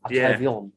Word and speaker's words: Atravion: Well, we've had a conversation about this, and it got settled last night when Estelle May pronounced it in her French accent. Atravion.